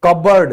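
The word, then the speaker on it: cupboard: तो इसको हम क्या कहेंगे, कबर्ड, जिसमें पी जो है वो हमारा साइलेंट रहेगा।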